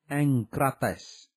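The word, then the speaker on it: ἐγκρατής: Le mot enkrateia, SGD 1466, prononcé enkratia, est dérivé de enkrates, SGD 1468, prononcé enkrates, qui signifie être fort dans une chose ou en maîtrise.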